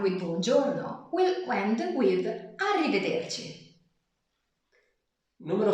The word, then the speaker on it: arrivederci: Yeah, I know that pronunciation is difficult. Arrivederci. Arrivederci.